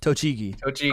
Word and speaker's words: Tochigi: Tochigi. According to Google, Tochigi. that is how you pronounce it.